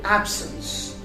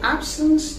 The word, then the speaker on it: absence: plus i or e then c would be silent for example we have the word absence so absence is spelled as a